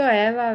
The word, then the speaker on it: ella: Por eso ella la riega constantemente. Sorika. Double L, you can pronounce like Y or like E. Cebollas and ella.